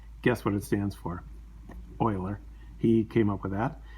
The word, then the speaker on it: Euler: talk about something called euler's method so euler is how you say that euler named after the